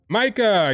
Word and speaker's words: Maika: Her first name rhymes with Taika. You should get it by now. You should get it now. Her name rhymes with Taika. Maika, you got it.